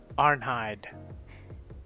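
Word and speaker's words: Arnheid: that ain't her name this is how you pronounce her name aren't hide yeah so we meet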